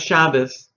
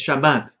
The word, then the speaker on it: Shabbat: No es Shabbos, es Shabbat. ¿Yeah?